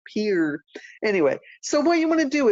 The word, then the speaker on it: Pierre: By the way, if you put Pierre, but you pronounce it Pierre, you're not from South Dakota because we pronounced it Pierre.